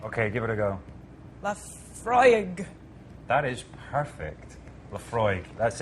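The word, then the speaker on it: Laphroaig: Now, how do you really pronounce it? Lafroig.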